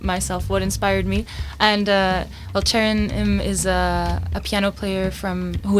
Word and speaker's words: Chaerin: That is the sound of Chaerin. Thank you for the pronunciation help, Guy from WAZO Bean.